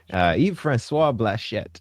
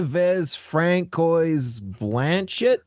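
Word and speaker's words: Yves-François Blanchet: The CCFR is suing Yves-Francois Blachette. I really wanted to mispronounce his name, but you did too good of a job. I did. I was going to say, why Vez Francois Blanchett?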